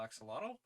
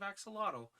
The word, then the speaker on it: axolotl: an archaic spelling of axolotl, which purportedly, don't hold me to this. You're supposed to say ahuatl. Uh, Like the X is pronounced phonetically differently is the big thing.